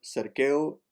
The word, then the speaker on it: cerqueu: QU is pronounced like a K. Cerqueu.